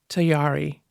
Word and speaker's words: Tayari: Tayari rhymes with Ferrari and Atari.